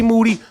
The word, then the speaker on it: Moody: rockin with the best moody last name rhymes with duty yeah I apologize for